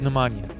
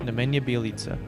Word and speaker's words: Nemanja Bjelica: I thought it was Nemanja, but apparently it's pronounced Nemanja Bjelica.